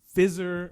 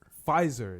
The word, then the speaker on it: Pfizer: it the covid vaccine fizzer or p fizzer oh no pfizer is how you pronounce it pfizer thank you